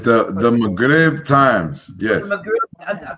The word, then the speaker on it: Maghrib: It's the Maghrib Times.